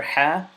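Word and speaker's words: حاء: throat letter so is the letter ha it's deep comes from the deepest part of your throat very throw a little bit throaty letter and it is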